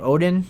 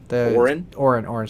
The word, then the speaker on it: Orin: Odin or Oda? How do you say her name? Orin. Sorry.